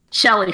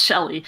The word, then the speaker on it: Kjell: Shelley. Her name is pronounced Shelley. I learned that whether I wanted to or not. It's Scandinavian. The KJ is a sh sound.